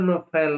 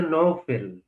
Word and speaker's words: নওফেল: আপনি ওই নোফেল বারবার বলছেন। তার উচ্চারণটা আমাদের কাছে হচ্ছে নওফেল।